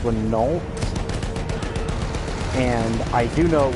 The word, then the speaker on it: Renault: The Americans, actually Ford specifically, built a 3 and a 6 ton tank, which was based on the, I believe it's pronounced Renault.